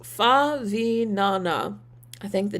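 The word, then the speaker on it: Favignana: Prototype says it's pronounced Favinana.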